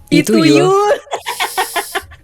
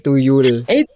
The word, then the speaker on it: tuyul: Itu Yul. Temennya Itol. Bukan, ini bacanya begitu Kak Anci, kayaknya bukan I tapi tuyul.